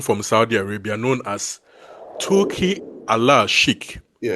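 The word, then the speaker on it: Turki Al-Sheikh: one man from Saudi Arabia known as Ti Allah Shik. Yeah. But as English speakers, we will say Turkey al-Shik.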